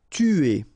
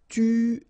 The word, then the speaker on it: tuer: Tuer. Alright, remember, U is really pronounced like U, so it's not OU, but it's U, okay? Tuer, tuer.